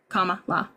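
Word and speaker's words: Kamala: thank you you're welcome it's like a comma and then law comma law comma did I say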